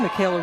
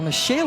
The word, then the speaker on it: Michaela: to the second inning Michaela Richburg or Micha Richburg excuse me spelled like Michaela but pronounced Micha my apologies to the